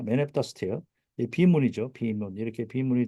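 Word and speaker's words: stele: 대표적인게 네타 스틸입니다 네스틸 이거는이라고이 스펠링이 돼 있지만 이건 스텔라고 읽는게 아니고 스틸입니다 네다 스틸 문이죠 비문 이렇게 비문이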